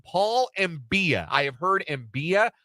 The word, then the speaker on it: Mbia: I have heard Mbaya. There was no pronunciation guide offered in the KU press release, but I think it's Mbia. Yesterday on the show, Michael Swain said Mbia. So we'll go with that as the in-house pronunciation until we hear differently.